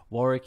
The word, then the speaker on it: Warwick: on uh linkedin under warwick fairfax as australians will know uh warwick with the silent w nobody knows that in america i get warwick all the time but what are